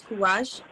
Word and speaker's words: Kouraj: So a lot of the times I'll hear the way it's properly pronounced, which is Kouraj.